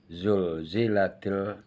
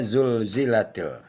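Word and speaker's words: زلزلت: Tapi kalau Z yang kedua, zul, itu lidah kita agak ke tengah langit di pangkal gigi. Zul.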